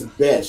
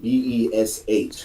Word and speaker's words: Bech: And it's Bech. It sounds like Besh. Okay. It's spelled Beth.